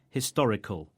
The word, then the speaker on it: historical: We pronounce historic and historical with the stress on the same syllable in both words, the to.